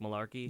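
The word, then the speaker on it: Mularkey: was out Tuesday Mike malar Malarkey did I pronounce it right Mike Malarkey yes Mike Malarkey now as interim head coach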